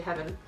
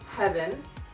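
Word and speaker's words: HVYN: also threw in um it's spelled h v YN but I'm going to say heaven and it's also another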